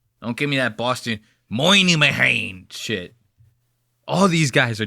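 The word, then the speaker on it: Minihane: His name is spelled Minnie Hain. And they pronounce it the fucking crazy. They go, my name is Kirk Moynihan.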